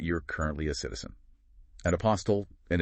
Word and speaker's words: apostille: An apostl, and it's pronounced API steel, by the way.